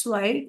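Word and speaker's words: zwei: स्वाई pronunciation is स्वाई टू का three का dry four का फियर।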